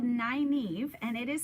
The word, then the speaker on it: Nynaeve: And it's called Nynaeve, and it is spelled, I don't know if you can, is this make it backwards?